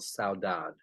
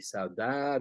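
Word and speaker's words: saudade: it really articulates a unique Portuguese phenomenal called saudad s-a-u-d-a-d-e Sada let's see if it's pronounced differently in Brazil or in the Cape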